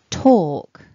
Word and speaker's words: talk: Talk, talking, talked.